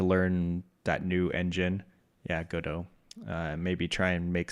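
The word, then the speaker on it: Godot: I picked up Godo. I don't know if you're familiar with that. Go dot is how it looks like it's spelled, but Godo.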